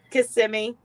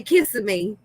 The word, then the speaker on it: Kissimmee: too there was some something in florida that i couldn't pronounce right kissimmee kissimmee i used to say kissing me and cody was like